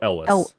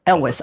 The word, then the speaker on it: Elwes: Is it Elwes or Elvis? What is it? The first one's pretty cool. Elwes. Elwes.